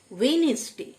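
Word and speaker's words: Wednesday: ওয়েডনেসডে, WED, এই DT silent থাকে, অনুচ্চারিত থাকে।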